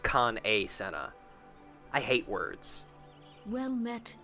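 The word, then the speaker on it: Kan-E-Senna: her name is spelled Khan e Senna it's pronounced Khan a Senna I hate words well met and Welcome to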